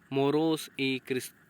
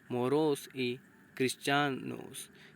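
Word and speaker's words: Moros y Cristianos: Series आगे अगला festival हम पढ़ेंगे मोरोस ई क्रिस्टियानोस, है ना। मोरोस ई क्रिस्टियानोस, इस तरीके से इसको प्रोनाउंसिएशन करेंगे, जिसकी लिटरली मीनिंग होती है मूर्स एंड क्रिश्चियन।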